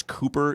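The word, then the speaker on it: Kuper: the vikings offensive line code is it chris cooper c-u-p-e-r is that how we pronounce it that's correct so they've spent some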